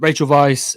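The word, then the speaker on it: Weisz: Trio of Vach R is it how do you say that is it vice vice I think it's Vice German W like Vim vendors Vice yeah yeah yeah um Rachel Vice Olivia Coleman and Emma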